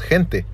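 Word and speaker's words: gente: people all right because in Spanish people the way you say people is hinting all right hinting and it's spelled almost like Gentile is spelt all right so it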